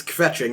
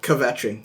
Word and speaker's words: kvetching: Yes, the inner Jew in me has to say that you don't pronounce it's kvetching, not kvetching.